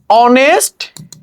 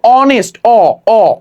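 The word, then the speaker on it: honest: যেমন আমি যদি বলি অনেস্ট ম্যান সে হয় একজন সৎ মানুষ এখানে এই যে অনেস্ট এটা কিসের মত উচ্চারণ উচ্চারিত হইছে এখানে এইটা কিন্তু অনেস্ট কিসের মত হইছে এর মত অনেস্ট অনেস্ট ঠিক আছে অনেস্ট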